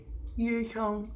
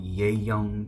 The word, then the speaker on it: Ye Hyung: So I heard like 20,000 different iterations of my name, from Ye Young to Yang Young to someone even called me Ye Jung.